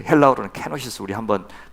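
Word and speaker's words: κένωσις: 있는데 그것이 바로 케노시스 불러요 보통 그 헬라는 케노시스 우리 한번 발음 한번 따라서 한번 해 보실래요 시작 케노시스 케노시스 그서 비움이라는 뜻입니다 비움 예수님이 그것을 어떻게 표현하시면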